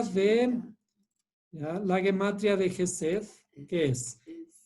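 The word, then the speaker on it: חסד: Este es como J. Sí. ¿Ya? Este es como S. Y este es como una Dalet. ¿Ah? ¿Qué? Gesed.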